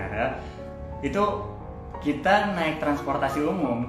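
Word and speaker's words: Ağrı: Di Agri, di tempat kota gue kuliah ya, itu di Arab namanya, tulisannya Agri, bacanya Arab.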